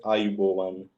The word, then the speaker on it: Ayubowan: of we greet, and it is pronounced as Ayubowan.